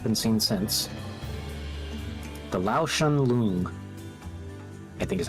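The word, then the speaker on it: Lao-Shan Lung: The Lao Shen Lung, I think is how you pronounce it. Lao Shen Long? Lao Shen Lung, yeah.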